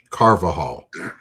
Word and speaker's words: Carvajal: It's for Laura in the chat, it's Carvajal. Yeah. I have to make sure I say it right too. It's Daniel Carvajal.